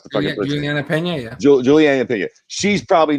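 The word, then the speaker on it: Julianna Peña: Julia Pena, is that how you pronounce the fucking person? Juliana Pena, yeah.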